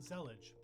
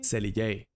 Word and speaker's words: Zellij: It's called Zellij.